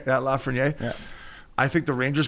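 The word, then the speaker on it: Lafrenière: Lafreniere. You got it right. Yeah, Lafreniere.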